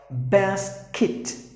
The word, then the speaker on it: basket: The next word is basket or basket. Either way, it should be kit, not get. Bicycle. You have to pronounce the word as exactly bicycle.